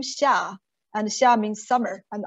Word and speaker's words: Xia: try to um challenge yourself and try to pronounce my first name of my pen name xia and xia means summer and i like this